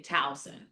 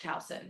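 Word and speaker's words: Towson: But for some reason, we say Talson. Okay. Like ow like ouch. Talson.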